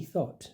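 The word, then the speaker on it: Thot: And do you remember Ducky Thought? So this was a Somalian girl. Thought. It's spelled thought as in thoughts. An actual thought.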